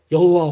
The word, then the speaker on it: 여호와: 그래서 그 YHWH라고 하는 이 자음에다가 아도나이에서 사용된 그 모음을 하나씩 붙여서 발음할 때 그때 나오는 발음이 여호와 혹은 야훼와 같은 이런 발음이 되는 거죠.